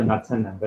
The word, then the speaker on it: Knudsen: So just for example, we define what is called as Knudsen number. Okay, this is one important number. The K is silent. It's called as Knudsen number.